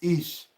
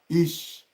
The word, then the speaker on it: ich: to be using 4 words, 4 examples, like ish. So if you have been learning German, you're supposed to know what is ish. ICH. If you know what is ICH, write it on the comment section. ICH, ish.